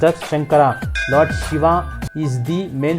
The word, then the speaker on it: Shankara: shambhu next of Lord Shiva is called as shankara please remember that these are all Sanskrit names